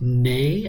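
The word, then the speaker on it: né: of 39 across nays the French word nay is pronounced the same as the English word nay this is also now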